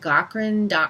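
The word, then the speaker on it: Gaughran: one is at David Goren calm that's spelled GA ugh ra n he's Irish so David Cochrane calm and written word Mediacom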